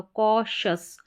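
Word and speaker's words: cautious: तो यह बन गया क सी को क पढ़ा तो कॉशस कॉशस न्यूट्रिशियस एंबिशियस और कॉशस।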